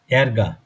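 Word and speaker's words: Ärger: আর এটা যে সাউন্ডের জন্য বসে এটা হচ্ছে এ। আমরা এ দিয়ে এ যে সাউন্ডটা, যেমন ধরুন একটা শব্দ লিখি, এরগা। ক্রোধ, রাগ, না, অ্যানয়েন্স, এরগা। আ umlaut এরগা।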